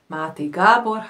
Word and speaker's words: Máté Gábor: Ich liebe Gabor Maté, spricht man in Deutsch aus, aber Máté Gábor heißt er eigentlich auf Ungarisch.